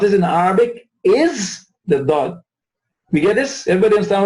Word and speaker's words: ض: The dad is pronounced from one or both sides of the tongue.